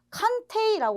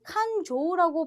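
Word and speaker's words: 勘定: 쇼크의 테이 아아 그래서 발음 하실 때 칸 테이라 발음 하시기 쉬운데 여기에서는 칸 조라고 발음하는 거 주의하세요 그래서 칸조 뜻이 뭐냐면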